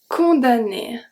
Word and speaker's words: condamné: We've seen this one as well when mn is going to be pronounced n. Let's see too. L'automne. L'automne. L'automne. Condamné. Condamné. So I don't say condamné and I don't say l'automne. I say condamné, l'automne.